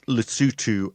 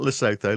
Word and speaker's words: Lesotho: Donald Trump has dismissed Lutu as an African nation that nobody's ever heard of. Therefore, nobody's ever pronounced properly before this podcast, but none.